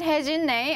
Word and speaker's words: Hye-Jin Nae: I always say to my students that my name is Hye-Jin Nay, and then they go, and then say horse hay and drink gin.